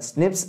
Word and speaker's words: SNPs: snps single nucleotide polymorphism pronounced as Snips occur in humans okay